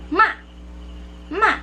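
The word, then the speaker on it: 妈妈: So the second syllable just will going to pronounce it quickly. Okay, so that's the neutral tone.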